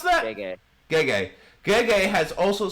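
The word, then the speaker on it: Gege: GJ had or is it JJ or is it how do you pronounce that? Gay.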